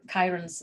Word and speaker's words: Chiron: chart most of them will show you your kyren's zodiac sign and the house which is in